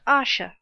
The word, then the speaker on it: Asher: is a mysterious character his name is Asher pronounced Asha and it is said